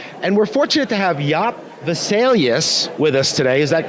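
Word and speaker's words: Jaap Wesselius: And we're fortunate to have Jaap Vesalius with us today, is that correct? Yeah, you pronounce it pretty well, thank you.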